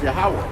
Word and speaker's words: Yahweh: Definitely didn't know how to pronounce it. That's right. It's Yahweh.